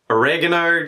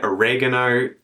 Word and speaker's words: oregano: But it's strange because the American pronunciation is the closest to Italian.